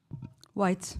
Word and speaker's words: White: say your last name white white the whites of your eyes uh addressing what you